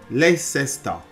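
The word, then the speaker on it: Leicester: to pronounce the words now that word goes leesta is he not leesta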